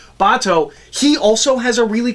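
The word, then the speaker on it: Batou: It's written and it's like it's supposed to be Batao, and so I have a tendency to pronounce it like Bato.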